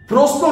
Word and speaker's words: প্রশ্ন: প্রশ্ন নিয়ে আমাদের সমস্ত অভিনেতাদের মনে একটা প্রশ্ন থেকেই যায়, সঠিক উচ্চারণটা কি, প্রশ্ন না প্রশ্ন? বানানটা যদি দেখেন তাহলে দেখবেন পয়রফালা তালিবস্যে নয়, সেক্ষেত্রে তো সঠিক উচ্চারণ হওয়া উচিত প্রশ্ন, কিন্তু সঠিক উচ্চারণ হচ্ছে প্রশ্ন।